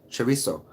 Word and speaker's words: chorizo: TZ but here it's very much a soft chorizo please correct me if I'm wrong yeah there